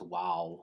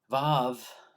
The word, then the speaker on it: Vav: It's not pronounced wow, it's Vav.